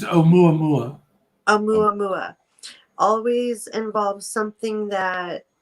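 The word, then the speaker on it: ʻOumuamua: These ideas that came to explain scientific properties of, how do you say it? Aumama. I can't say it. Yeah, it's Oumuamua.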